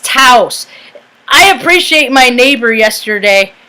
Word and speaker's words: Taos: It's Taos. I appreciate my neighbor yesterday, because I say Taos. I've said all kinds of stuff. But it's Taos.